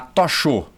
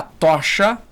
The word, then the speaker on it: tocha: A tochou, não é a tochou, é a tocha olímpica.